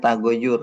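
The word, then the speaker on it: تغيّر: Ini bacanya tagayyur bukan tagyir. Tapi kalau ya dua bacanya tagyir.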